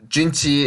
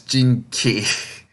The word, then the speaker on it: Jinchi: They keep saying it as Jinki, and it sounds so bad. Oh gosh, it's Chi, so it sounds like CHI in English.